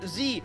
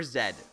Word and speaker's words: z: my god wait question do you guys say z or zed super important question in canada zed is the proper way to say it however my family always grew up saying z here's here's my defense